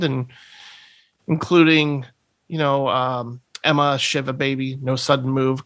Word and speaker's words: Ema: 2019 release i think that's how they pronounce her name in the movie is emma but it's spelled e-m-a and it has uh